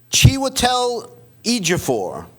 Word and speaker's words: Chiwetel Ejiofor: Okay, Chiwetel Ejiofor. Is that how you Good pronounce job.